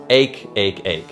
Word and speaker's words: ache: word is pronounced ache just like the word make but without the M make make make ache and then one more